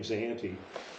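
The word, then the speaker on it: Sayante: group up here the Spanish called it was sahante s-a-y-a-n-t-e hence the name zahanti but that was what the the Spanish pronunciation of the Native American group that lived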